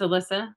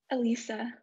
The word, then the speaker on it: Alyssa: She is a current student at Miracosta, but it's Alyssa Lessinger. Is that how you pronounce her name? Elisa. Elisa, okay.